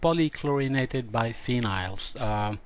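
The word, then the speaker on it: polychlorinated biphenyls: trichloroethane pcbs i said it wrong before call polychlorinated by phenyls ddt as i said was used as a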